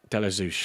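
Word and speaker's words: Ashby-de-la-Zouch: I can never still never pronounce that properly. Delazouch. Deosush.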